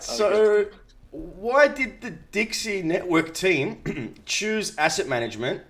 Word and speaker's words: DeXe: of the evening so i pronounced that dexter but you call it dixie so did i pronounce it yes a lot of people say dexy but from the beginning it was dixie network dixie network okay i